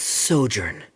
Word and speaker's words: sojourn: tell this story together foreign how do you pronounce this word let me see ah that's sojourn it means to stay for a while this